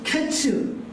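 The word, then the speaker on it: קֵץ: 여름 과일은 히브리어로 카이츠입니다. 끝은 히브리어로 캐츠입니다. 카이츠, 캐츠. 뭔가 이 발음이 유사하잖아요.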